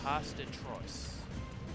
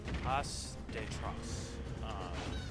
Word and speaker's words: Pas de Trois: Pas de Trois is what Google is telling me is the pronunciation.